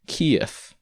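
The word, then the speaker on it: Киев: why this phenomenon occurs the original letter is the equivalent of v but it's pronounced like an f the question is what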